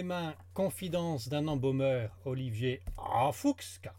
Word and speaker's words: Emphoux: Qui s'appelle « Entre mes mains, confidence d'un embaumeur, Olivier en Fuchs », car on prononce voilà. Le X, qui est édité par les éditions de Monceny, je prononce bien.